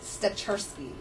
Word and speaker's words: Stachurski: and how do you say your last name stury stury Okay sandy um when did you get involved